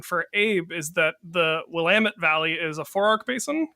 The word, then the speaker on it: Willamette: I don't know if kids say bad words on here or not, but we usually say Willamette rhymes with damn it. Willamette, damn it.